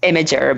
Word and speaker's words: Imgur: it right now the official word yes is pronounced imager but IMG you are so obviously can't really put too much blame on people if they're saying Inger or something else like that you know what